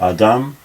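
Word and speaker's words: אָדָם: ground by the way the traditional emphasis in Hebrew is nearly always on the last syllable so Adam and Adam are and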